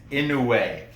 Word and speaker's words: Inoue: It's Inoue. Inoue. Inoue. That U-E is a way sound.